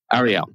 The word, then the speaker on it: Arielle: Is it Arielle or Arielle? I'm so sorry. I should have asked you. No, you said it right. You said it right the first time. Okay. Arielle.